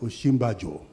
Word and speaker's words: Osinbajo: How do you pronounce this name? So she called one of the Jebu guys in her office, called Sikuru. Sikuru came and said, it's called Osinbajo.